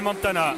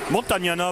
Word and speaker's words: Montagnana: Petit tir posté haut, 2 points pour Miguel Montana. Montagnana pour être tout à fait correct. J'ai oublié une syllabe.